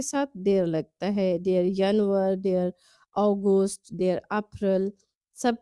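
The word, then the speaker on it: Januar: تلفظ ذرا مختلف ہے۔ ینور، ینور کی آواز وائی کی آواز سے نکالیں گے۔ فیبرور کی آواز حلق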